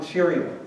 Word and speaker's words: Jario: It was why people call me often Jario, because I'm cheery all the time. And it rhymes with Jario, and it's easier to say.